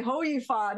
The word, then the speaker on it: Hou Yifan: where how where yfon that's why i say hi fun it's not so difficult to pronounce just in case that's right that's the thing they're going to tell me the way i was pronouncing it is wrong i have to say ho you fun and it's like it's